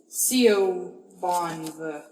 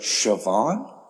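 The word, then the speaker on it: Siobhan: this name she's like sioban she's like you pronounced that correctly C Bon her name's Cara and I can't get it right but shoban with a B who knows I'd be like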